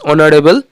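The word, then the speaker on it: honourable: E, mister গুও is dash অনারেবল person. অনারেবলের আগে এইচটা অ এর উচ্চারণ আছে বলে অ্যান আসবে। Mister গুও ইজ অ্যান অনারেবল person.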